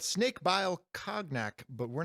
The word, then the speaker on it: cognac: And we find out that next month is a book called Snake Bile Cognac, but we're not going to be reading Cognac.